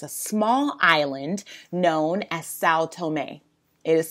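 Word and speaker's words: São Tomé: africa there is a small island known as sao tomei it is spelled s-a-o and then t-o-m-e saotome and you'll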